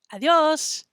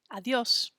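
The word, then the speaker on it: adiós: they say adios adios sometimes people make the mistake of saying the word adios and they make it sound like it has three syllables instead of only two have you ever heard somebody say adios amigos okay that's not quite right adios is too many syllables the word actually only has two syllables so it sounds like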